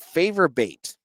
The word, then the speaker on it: Favor Bate: So let's kick this off by talking about Favor Bate. I had to ask to make sure I had the pronunciation right, and it's pronounced exactly what it sounds like, from Merrimack.